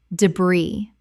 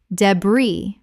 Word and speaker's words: debris: debris Common mispronunciation. debri Correct pronunciation. debris British or debris. The S is completely silent in both varieties.